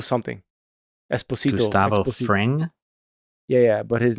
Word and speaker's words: Esposito: How do you pronounce that, Mario? Giancarlo. What's his last name? Really? It's Giancarlo. Esposito.